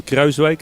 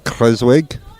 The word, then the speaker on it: Kruijswijk: Steven Kruijswijk, sorry, the pronunciation please, Dan. Steven Kruijswijk, as we say in Holland. Steven Kruijswijk.